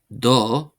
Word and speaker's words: do: Then we have do meaning your not do not do short o meaning your and then we have ah meaning his and ah meaning her.